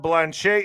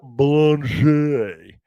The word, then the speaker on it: Blanche: You also have Peter Tictton coming out slamming Todd Blanche. How do you say this guy's last name? Blanch. Blanche. It looks like some kind of French.